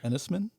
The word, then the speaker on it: Enys Men: a movie that I didn't know how to pronounce it was spelled e-n-y-s and then the word men m-e-n ennisman yeah okay correct you are correct yeah it